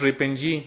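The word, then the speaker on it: RIPng: o siguiente generación y se pronuncia en inglés ripen es como como normalmente se escucha en el medio cuál es la de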